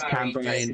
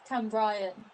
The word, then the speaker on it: Cambrian: a yellow card though in the Barry versus Cam Bryan game. And that is Cam Bryan Yay, something United. happened. Give me a minute. Cam Bryan United. Is that how you pronounce Cambrian?